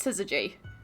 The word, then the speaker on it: syzygy: Like synergy, but it's syzygy.